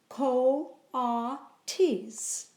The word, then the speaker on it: coatis: pigs or raccoony dogs these are kawatte EES mrs. Brisbane said reading from the letter pronounced Co ha tease the kawatte e's looked